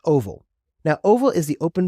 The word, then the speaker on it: OVAL: The first one we have is OVAL, which is pronounced OVAL.